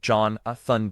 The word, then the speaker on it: Jonathan: Jonathan J. Gilbert, pronounced John Aun Gilbert, was born on April 28th, 1967 in Los Angeles, California.